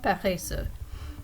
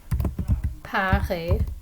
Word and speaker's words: paresseuse: Ils sont paresseux. Okay, she is lazy. Elle est paresseuse. So the pronunciation and the spelling of this one is going to change if I'm talking about one female person.